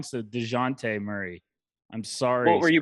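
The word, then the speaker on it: Dejounte Murray: and said i need to stop pronouncing his name wrong so dejante murray i'm sorry what were you pronouncing it uh deontay what is your thing with these pronunciations i've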